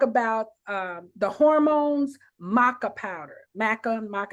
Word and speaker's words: maca: Maca, how do you say that, Tammy? Oh, I got some matcha powder, or maca. MACA. Okay, that's something different. It's the maca.